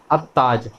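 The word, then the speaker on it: التاج: सबसे पहली जो मिसाल है वो है अत्ताज, यानी यहाँ पे हम लाम को प्रोनाउंस नहीं करेंगे बल्कि डायरेक्ट अलिफ को ता के साथ मिला लेंगे, अत्ताज बोलेंगे। इसी तरह दूसरी मिसाल है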